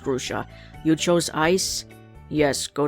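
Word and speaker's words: Grusha: is not here again grusa I mean grusa it's pronounced gusa you chose ice yes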